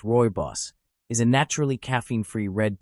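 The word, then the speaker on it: Rooibos: Roos, pronounced royos, is a naturally caffeine-free red tea from South Africa.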